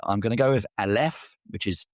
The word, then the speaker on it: Aleph: at this, but I'm going to go with Aleph, which is A L E P H.